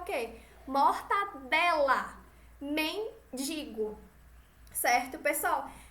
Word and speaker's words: mortadela: Natal mortandela e mendigo Essa é a pronúncia inadequada certa a gente não vai dizer que é um palmo Cerrado a gente vai ter aquela inadequada Como é o certo é mortadela e nem digo não nem